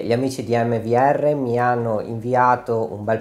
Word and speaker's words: AMVR: ha inviato am VR la pronuncio da qui in poi in italiano mvr così ci capiamo meglio cos'è mvr È una